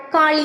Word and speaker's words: காளி: என்பதால் காளி என்று அழைக்கப்பட்டாள் காளி என்ற பெயர் வடமொழியின் காலா என்ற சொல்லிலிருந்து உருவானது உண்மையில் காளி என்பதே சரியான உச்சரிப்பு ஆகும் காளி என்பதன் பொருள் காலத்தை